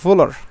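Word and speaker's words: Wöhler: বলতে পারি পরবর্তীতে ফিড্রিক ভোলার এই যে এই যে ডব্লিউ ডব্লিউ এর উচ্চারণটা আসলে কিসের মত ভয়ের মত হয় ডব্লিউ এর উচ্চারণটা ভয়ের নাই হয় এই তিনি কিন্তু একটা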